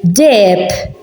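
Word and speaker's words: deheb: So in the middle, it is silent. So we say dep.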